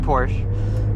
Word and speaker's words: Porsche: And I'm saying Porsche just for you because the American pronunciation would be Porsche.